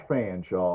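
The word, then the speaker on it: Featherstonhaugh: early days that would ride of Arkansas George fanshaw was one of them in 1838 his name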